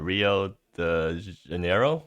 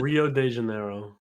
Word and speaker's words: Rio de Janeiro: gonna be talking about is Grand Prix uh Rio the De Niro is that how you pronounce it Rio de Janeiro yeah close enough and this is also GP